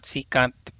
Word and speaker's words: secant: Second, secant, it depends on how you pronounce it. So I think the correct way is secant.